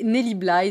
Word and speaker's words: Nellie Bly: jour un jour et nelly blaye c'est ainsi que ça se prononce dans l'antre de la